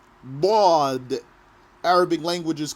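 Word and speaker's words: ض: that's for the letter baud arabic language is called lula bod the language of the bod the way of pronouncing baud is by pressing your tongue the side of your tongue against your molars so the spot of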